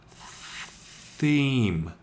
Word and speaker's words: theme: It has a silent E on the end, which we'll talk about a bit later in the series as well.